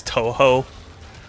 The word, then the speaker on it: Toho: I think the answer I got on stream was that it's Toho. That's how you like pronounce it.